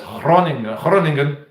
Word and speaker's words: Groningen: I know it as Groningen, but I think the Dutch pronounce it as Groningen.